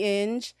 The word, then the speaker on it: Inge: me on Instagram in spelled the correct way and um and in is i n it rhymes with binge as in binge in binge watch okay and also I